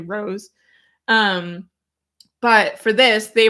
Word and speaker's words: Roos: recently learned is pronounced Rose it's spelled r o oos so we all thought it was Roose but it's actually Rose um but for this